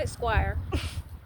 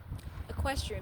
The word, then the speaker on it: equestrian: wrong last time, I don't know if it's equestrian. It's always like I get my words all tangled. It's not Esquire. Equestrian business.